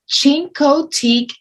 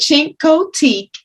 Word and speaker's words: Chincoteague: the place for you check out chincoteak virginia i think i'm pronouncing it right because for months i've been pronouncing it incorrectly so but cinco teak is a town on